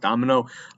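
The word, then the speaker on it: daimyo: This goes over the samurai and what is kind of pronounced domino. It sounds like Domino's Pizza, but it's domino.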